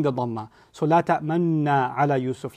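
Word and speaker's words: لَا تَأْمَنَّا: This is, I squeeze my lips as I said, لَا تَأْمَنَّ like that, because that's the pronunciation rule in Hafs.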